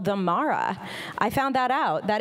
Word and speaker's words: Mara: Because it rhymes with my name. Yeah, there you go. So I always tell people, oh yeah, it's Mara like capybara.